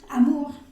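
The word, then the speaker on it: amour: pronunciar ua mua tua todo lo que tenga o y u se va a pronunciar como una u Amur pur okay Y otra cosa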